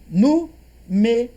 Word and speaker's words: números: E números, ó, antepenúltima é mais forte, proparoxítona real.